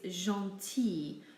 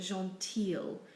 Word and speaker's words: gentil: with the word for nice or kind its gentil not a Jean teal we simply say e for the I in